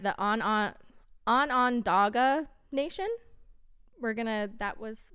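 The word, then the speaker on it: Onondaga: and and you know google said it's pronounced like on on dagger but i could be wrong so feel free to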